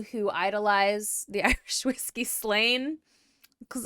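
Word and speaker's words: Slane: both provinces okay so if it's spelled slain theocracy slain s-l-a-n-e um I have no choice but to think about it like the whiskey so we're gonna talk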